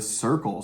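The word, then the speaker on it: Cyrkle: he was their manager who said, "You should be called the circle." And then it was actually John Lennon who allegedly told them to spell it this way. So that's C Y R Kle E.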